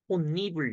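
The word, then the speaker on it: 홑이불: 좋을 거 같아요 어쨌든 니은 첨가가 돼서 혼니불 다음 또 어떻게 돼 구두방 나이라서 발음이 어떻게 된다 최종적으로 혼니불 요렇게 되는 거죠 이해되세요 중요한 건 뭐다이가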